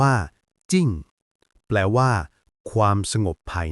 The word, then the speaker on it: 靜: นึง ที่ สวย มาก คำ ว่า จิ้ง อ่าน ว่า จิ้ง แปล ว่า ความ สงบ